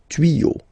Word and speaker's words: tuyaux: Des tuyaux. Same rule, you don't pronounce it.